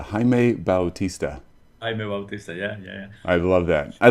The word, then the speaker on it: Bautista: like Jose absolutely so hi and then pronounce your last name for me Bautista Bautista Jaime Bautista I love that I like the way it